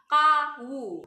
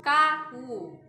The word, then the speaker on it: kau: dan kau adalah kamu kau sendiri terdiri dari tiga huruf yaitu kau u Tapi pengucapan yang benar adalah Kawu Kawu bukan kau bukan ya tapi kau itu pengucapan yang benar Kebanyakan orang-orang yang tidak tahu bagaimana pengucapan Kau pasti ngucapinnya dengan kata kau gitu ya padahal yang benar adalah KWU kemudian ada keci dan